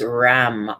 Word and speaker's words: ram: color is gold bright yellow the sound is ram r a m three rounds breathing that gold